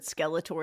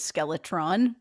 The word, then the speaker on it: Skeletor: Puddles always forgets that Skeletor is pronounced Skeletor and constantly says Skeletron.